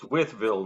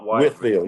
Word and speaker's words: Whiteville: So that's how you pronounce it. It's Whiteville, not Whiteville.